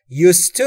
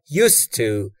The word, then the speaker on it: used to: ما یک فعل در انگلیسی داریم که میگیم use، با زد تموم میشه، یعنی استفاده کردن. اما وقتی که میخواید used to رو تلفظ بکنید باید s بهش بدید و s تلفظ کنید، یعنی میشه used to، used to.